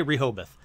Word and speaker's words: Rehoboth: So we're going to say Rehoboth.